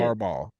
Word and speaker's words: Harbaugh: Harbaugh.